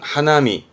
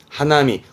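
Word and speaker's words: 花見: 단거 하나리 단 고라고 쓰게 됩니다 꽃을 보내요 발음은 하나미 하나미 꽃놀이 하는 흔히 뭐 사꾸라 보는 거 있잖아요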